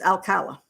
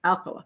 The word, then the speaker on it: Alcala: which way to okay if it's if it's pronounced spanish it's alcala it's pronounced english it's alkala but i think it's alkaline um the dating game